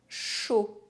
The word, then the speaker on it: chaud: The letters A, U are always pronounced O. Jaune. Chaud.